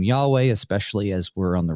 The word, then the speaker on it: Yahweh: Divine name sometimes called the tetr grammaton we pronounce it Yahweh uh it was it's there in the text